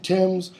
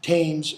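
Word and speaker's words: Thames: upon the banks of Tims that so did take Eliza and our gems you know it has to rhyme you don't say tames and James because it's not pronounced tames but stay I see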